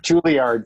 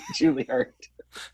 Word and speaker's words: Juilliard: I have to quibble with your pronunciation of Juilliard. Juilliard, sorry, Juilliard.